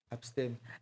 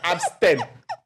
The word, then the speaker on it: abstème: par hm hm dis vite là je suis là avec abstem abstemme pardon pardon abstème abstème abstème ok je vais rapidement je vous